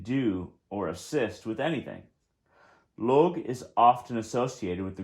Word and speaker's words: Lugh: i usually pronounce it log slight g and a h at the end but uh it is pronounced lu l-o-o that's just my um